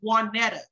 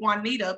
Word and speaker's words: Juanetta: For example, my name is pronounced Juanetta, but some people call me Juanita because, you know, I mean, it sounds like it, I guess.